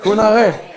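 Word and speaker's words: 그날에: 그 날에, Kunare. 그 날에, Kunare.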